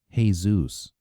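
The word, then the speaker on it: Jesús: And when I was on vacation in Florida, I even slept with a Jesus, though he pronounced it, "Hey, Zeus."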